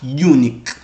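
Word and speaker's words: uinic: Halak, unique. So you need to know how to pronounce it.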